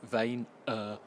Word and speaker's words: Vaynerchuk: Now, it's the second in a series of 3 by Gary Vaynerchuk, or as he says, Gary Vaynerchuk.